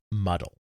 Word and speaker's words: MDL: highlevel programming language called mdl which was normally pronounced muddle muddle was an artificial